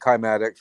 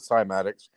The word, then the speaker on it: cymatics: and you know Gene you mentioned climatics right I pronounce it cymatics and that is so